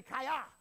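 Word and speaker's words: חיה: Say kaya. Sounds like a karate term, doesn't it? Kaya.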